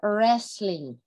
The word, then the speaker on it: wrestling: it in okay so wrestling wrestling um a ball game stuck in a wooden with sport do not worry game w is not pronounced nevermobile wrestling borrowed by